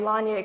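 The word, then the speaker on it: Lanyie: I am Lanya, kind of like Kanye with an L.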